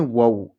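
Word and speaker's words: wow: वाऊ। इस वर्ड में ओ डब्ल्यू को औ से पढ़ते हैं। ओ से नहीं पढ़ते हैं।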